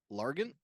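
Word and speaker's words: Largent: 13,089 touchdowns 100 seven Time pro bowler Steve lant yes there we go did I say it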